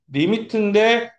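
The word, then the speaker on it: lim: 리미트인데, 리미트에 it를 없애가지고 m만 남길 거예요. 이걸 뭐라 읽는다고요? 리미트라고, 리미트라고 읽으시면 돼요.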